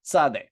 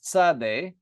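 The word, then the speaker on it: צדי: as well uh but modern Hebrew we pronounce it as a TS sound that's how I pronounce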